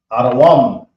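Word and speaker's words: אדום: Now we have Edom, which is Adawam. A, da, wam. And the wam is connected. Okay. Let's draw the a, then the da, then the wa, and then the ma, a, da, wam. So now let's add the connectors so you can see it clearly. A, da, wam. So that's how you pronounce Edom.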